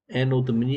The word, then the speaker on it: Anno Domini: Anno Domini, AD stands for Anno Domini. I'm not pronouncing it. Let's pronounce this correctly, actually. Anno Domini.